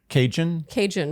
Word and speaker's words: Cajun: Cajun. It's like Trojan.